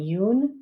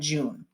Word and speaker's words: June: that you know that the letter j in english is usually pronounced ja but a lot of